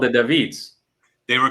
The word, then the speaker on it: Daveed: after them yes yes David like the French pronunciation but my mom's from Cuba so it's the Spanish pronunciation as well and then it's like